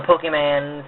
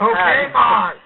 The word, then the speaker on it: Pokemon: I grew up on the DS, and on the Pokemans and stuff. Okay, Pokemon. Pokemon. Gotta pronounce it right. Pokemon.